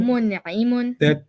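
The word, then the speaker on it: مُنْعِمٌ: Fahuwa It's going to rhyme with muslimun. Muslimun. So Mun'imun.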